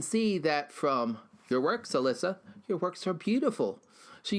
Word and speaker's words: Alyssa: Yeah, that's how you pronounce it. Alyssa.